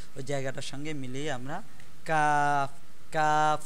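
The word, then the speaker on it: ق: উপরের যে জায়গাটা, ওই জায়গাটার সঙ্গে মিলিয়ে আমরা কাফ কাফ উচ্চারণ করব।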